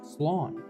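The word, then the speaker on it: slán: One dialect would pronounce it as slawn slan loas.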